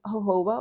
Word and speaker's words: jojoba: Or even jojoba oil. Maybe jojoba oil. Jojoba. I think it's actually pronounced jojoba though. Yeah, it's jojoba. Yeah.